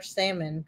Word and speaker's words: salmon: Or salmon croquettes, whatever you want to say. That's right. It's the L is silent.